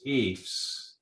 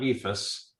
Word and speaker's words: EIFS: can be Stone it can be EES it's pronounced EES not epas or can be beef yes thank thank you